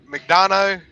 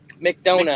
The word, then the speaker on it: McDonough: Ohio, and it delivered in, how do you pronounce it? McDonough, McDonut. McDonut. whatever, McDonough, Georgia.